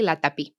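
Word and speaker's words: Latapí: Latapi, I like your last name. I was going to ask you, am I going to Am I pronouncing it correctly? Latapi.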